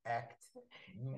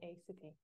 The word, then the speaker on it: ACT: So, CBT, DBT, but this one with ACT, we say ACT rather than ACT.